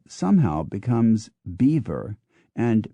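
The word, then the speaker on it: Belvoir: b l v o i r somehow becomes beaver and b a u d s ER t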